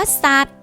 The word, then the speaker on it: สัตว์: เด็ก เช่น กัน ค่ะ คำ ว่า สัตว์ หา ตอเต่า เป็น ตัว สะกด ค่า แต่ ออก เสียง เป็น ตัว เด็ก ค่า ต่อ มา คำ ว่า